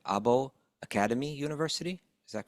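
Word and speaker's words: Åbo Akademi: He's a lecturer in religious studies at, I want to make sure I pronounce this right, Abo Akademi University.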